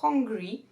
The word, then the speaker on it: hungry: Là, il faut faire attention à bien prononcer le H de hungry. Parce que si on dit angry, on passe de avoir faim à être en colère.